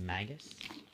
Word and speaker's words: Magus: I'm pretty sure it's pronounced Magus.